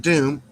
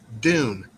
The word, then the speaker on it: Dune: Not Doom. Dune. Dune. D U N E. As in sand dunes.